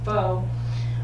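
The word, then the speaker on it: phở: It's pronounced and spelled different than pho, but it's very similar. It's spelled F-O-E, and I've been told by that Karen Coates woman that it's pho.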